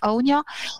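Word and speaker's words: Áine: de du Gaelic irlandais on prononce aonia et onia donc c'est une des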